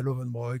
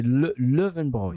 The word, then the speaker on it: Löwenbräu: Il y a Löwenbräu que je prononce à l'occitan. Apparemment c'est Löwenbräu.